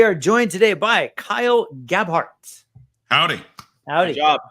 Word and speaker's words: Gabhart: And we are joined today by Kyle Gabhart.